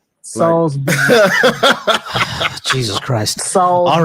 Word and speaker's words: Salisbury: I said Saul like King Saul.